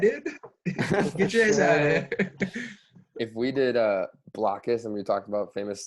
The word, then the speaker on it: Blokus: What would our name of the game have been if we knew it was definitely pronounced Blokus and we had to think of something with block?